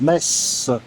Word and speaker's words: Metz: Je précise que la ville s'écrit avec un thé mais se prononce mess.